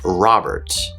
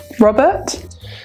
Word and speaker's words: Robert: Make sure to remember that initial R sounds in British English are still pronounced, so red, or the first R in my name, Robert. Robert?